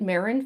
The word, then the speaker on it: Mehron: Yeah, I like to use Marin face paints. Yeah, Marin spelled like Mehron.